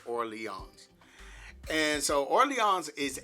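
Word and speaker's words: Orléans: or Leon I think keep want to say Orleans but I believe it they pronounce it or Leons and so or Leons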